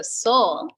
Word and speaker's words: Sol: I go by Soul Sister, and it's not Soul Sister, Go Sister, it's SOL Sister. So it's like this sun. So Soul, it's SOL_sister, and it's SISTER, because it could be sister with me, but it's sister.